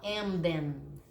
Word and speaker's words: Emden: O alemão é engraçado porque ele fala, todas as sílabas têm que ser muito bem pronunciadas. O M é M e o N é N. Então você tem que falar Emden.